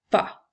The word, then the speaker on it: pas: elle va au magasin le dernier mot et le mot pas nous avons le son et le son a qui s'écrit as la lettre S est une lettre muette nous utilisons le